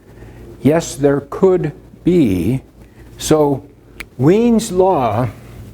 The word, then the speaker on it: Wien: One is Wien's law, and it's pronounced Wien's. This is a German guy.